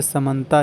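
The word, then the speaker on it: Samantha: ठीक है, अधिकतर साउथ में केवल त नहीं रहता, थ भी होता है उसके साथ, जिसको हम लोग संगीता अनिता बोलते हैं, उसमें H भी आ जाता है साइलेंट होकर, तो संगीता हो जाता है।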